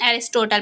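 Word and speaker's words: Aristotle: declare that plot is जो ए अरस्तु है हिंदी में अरस्तु बोलते हैं और इंग्लिश में प्रोनाउंस एशन एरिस्टोटल पढ़ते हैं ठीक है तो एरिस्टोटल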